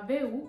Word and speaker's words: WU: Si chiama BU alla tedesca. E si scrive W.